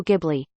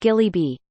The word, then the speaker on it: Ghibli: I realized she meant Studio Ghibli. I tried saying that, but she insists it's pronounced Gilly Bee.